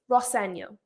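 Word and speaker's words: Rosenior: And he responds, "Well, my dad says Roseno."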